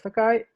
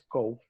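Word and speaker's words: 高: La palabra es Takai y su otra pronunciación es Kou.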